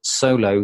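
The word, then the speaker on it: Xolo: The company that I use used to be called Leap In, and it's now called Solo, spelled with an X OLO.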